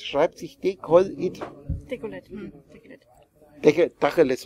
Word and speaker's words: Tacheles: Dacheles wird das ausgesprochen, ne? Ja, also Dacheles.